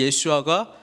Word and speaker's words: 예슈아: 이 여호수아의 히브리식 발음은 예슈아입니다. 그렇죠? 그래서 이 예슈아가 신약에 우리가 잘 알고 있는 예수님이라고 하는 거예요.